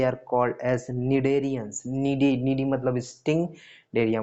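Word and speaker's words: Cnidaria: देखो बेटा, निडेरिया है, निडेरिया, सी साइलेंट है, निडेरिया, इसी को बोलते हैं निडेरियंस।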